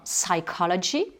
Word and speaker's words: psychology: Ensuite, tous les mots qui viennent du grec, qui commencent par PSY, et bien là, pareil, on ne va pas prononcer le P. Donc la psychologie, on va dire psychology.